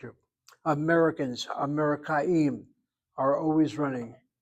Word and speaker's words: אמריקאים: Americans, Amerikaim, are always running. Amerikaim tamid, the word for always.